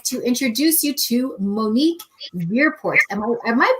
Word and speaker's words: Verpoort: introduce you to monique weirport am i pronouncing your last name right yeah it's ver like like fur part i like to put